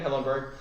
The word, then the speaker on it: Hillenburg: hillenberg hillenberg i want to make sure i pronounce that right uh stephen hillenburg who is actually like a marine biologist um